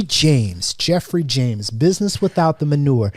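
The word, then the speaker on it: Geoffrey: without the manure and his name is spelled jeffrey like the english london way the spelling you might want to spell free you might want to spell it that's awesome go ahead and spell it for c-e-o-f-f-r-e-y james and then james j-a-m-e-s 49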